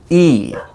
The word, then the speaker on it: he: he's had an accident in fluent speech if the word he comes at the beginning of a sentence or clause then the h sound is pronounced but if it comes in the middle of a sentence or clause and after a consonant then the h sound is not usually pronounced so he becomes e and he looks like